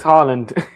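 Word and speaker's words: Haaland: Monday night it's Harland.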